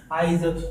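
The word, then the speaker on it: eyes: दोस्तों यहाँ पर स्टार्ट में ना तो ए लगा है और ना तो आई लगा है, तो फिर हम इसका प्रोनाउंसिएशन किस तरह आइज कर सकते हैं।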